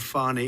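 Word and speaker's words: Fani: treated you very unfairly she goes by the name of fonnie even though it's F A ni I she wants to pronounce fonnie she's little little French little French accent and her lover her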